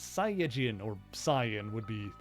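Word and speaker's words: Saiyan: well technically it's pronounced sain but nobody really says that anyway it's a pun on the Japanese word yasai for vegetable you switch the syllables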